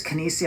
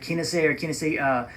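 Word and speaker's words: Kenissi: that Breitling buys, and I think it's Kinesi. I think that's how you pronounce it, Kinesi.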